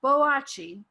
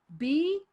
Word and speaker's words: Boakye: Okay, so either way, you're looking for Boakye, Boatye. Okay, spell it right.